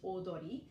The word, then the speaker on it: Audrey: And Audrey in Japanese is pronounced Odori.